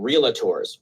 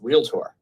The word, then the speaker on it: realtor: industry at all because that's not how you say it. It's realtor. It's not realator. There is no a in there.